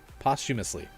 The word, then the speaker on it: posthumously: help me out siri how do you say posthumously it's never a good sign when she's asking to translate something maybe i just said it right posthumously posthumously that's how it is posthumously there we go